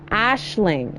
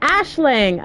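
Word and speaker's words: Aisling: I looked it up here's how to pronounce it Ashling oh Ashling okay okay Ashling yeah see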